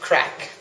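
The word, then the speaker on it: craic: Yeah, look, it's you know, the crack has been fantastic here, and well, the definition of crack, first of all, it's spelt C-R-A-I-C, and the evidence of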